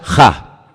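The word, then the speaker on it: ה: el no hay la hay uno solo se pronuncia Ja solamente hay uno así que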